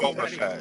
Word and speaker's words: Boba Fett: it's Boba Fett.